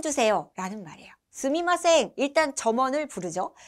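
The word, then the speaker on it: すみません: 스미마생, 스미마생 이라고 발음이 되는데요.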